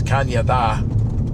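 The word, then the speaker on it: cañón: And the Canadian River has nothing to do with Canada, but um in Spanish, CAN with an accent over the N is pronounced like a Y. So it's Kanye, which is a type of can cannon.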